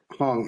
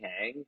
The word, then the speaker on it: Hang: it hang or H Hong how do we pronounce your surname yeah I know I'm pretty Americanized so I say hang but I think technically